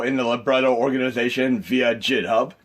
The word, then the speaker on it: GitHub: the libretto organization via jithub i pronounced that jit hub it might be github but ninja gaiden ninja